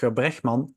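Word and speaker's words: Rutger Bregman: day that um that RKA bman who or R bman pronounced in Dutch um who wrote humankind a couple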